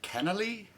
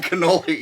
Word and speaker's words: cannoli: full of the icing the cannelli or canelai that's what the label said oh i'm mispronouncing cannoli yes i don't think